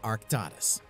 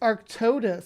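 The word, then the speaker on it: Arctodus: times if you ask one arctus it's arctus the Caribbean islands would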